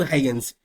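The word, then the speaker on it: Huygens: ये स्पेलिंग क्या है? तो एच यू वाई जी ई एन एस। इसको पढ़ेंगे हम लोग हगंस।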